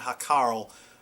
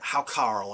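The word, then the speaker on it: hákarl: familiar sir strumming and hakarel are how carl i should say i think that's how it's pronounced in iceland they're uh they're acquired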